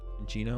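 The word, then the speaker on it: Cinccino: this is a good Cino so or Chino whatever Cino Chino so now this Chino so Lugia rotates before the chenino does right how you spell it Chino like cappuccino this is f block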